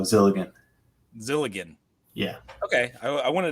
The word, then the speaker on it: Zilligen: Gilligan, but with a Z, so Zilligen.